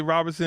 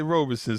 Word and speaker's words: Roberson: You know, in the South they say Robertson, in the North they say Roberson.